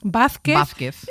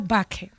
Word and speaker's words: Vázquez: Pues tú dices Vázquez y yo digo Vázquez.